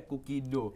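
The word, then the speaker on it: Cookie.do: Dan namanya kalau kita bisa spell ya, COOKIE .do. Ya. Tapi bacanya Kookie Do. Ya. Karena ini basicnya Do.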